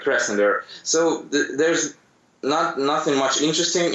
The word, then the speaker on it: Krasnodar: Well, actually, I live in a city called Krasnodar, and it's in Russian it sounds Krasnodar, but yeah, in English it's better to pronounce like Krasnodar.